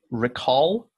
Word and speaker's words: recall: Recall. That aw sound, it sounded a little more O. And so when you first said it, I thought you said record.